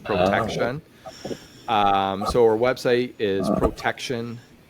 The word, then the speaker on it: Protechtion: Yeah, so our company, it's called Protection, but it's spelled PROTECHTION. So it's like the tech part, TECH, Protection.